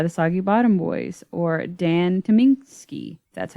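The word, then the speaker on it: Dan Tyminski: constant sorrow by the soggy bottom boys or dan tominski that's how you pronounce it from the oh brother arthur of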